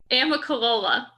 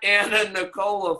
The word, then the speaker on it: Amicalola: she repeated it Emma Amicalola Amicalola it's not a nun Nicola Falls so it was